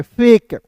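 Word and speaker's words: fake: देखिएगा एफ का फ लिखते हैं। के का क लिखते हैं। अंतिम में इ है तो एक-एक के लिए लगाएंगे। फेक एल ए टी ई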